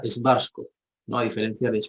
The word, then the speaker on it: Schwarzkopf: que los alemanes dicen cabeza negra entonces se pronuncia schwarzkopf no a diferencia de barcos como se conoce comúnmente dentro de quito excelente